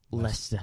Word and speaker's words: Leicester: i know uh i don't know how you pronounce it i'll say lost history but i think it's leicester leicester city it's uh they're in the bottom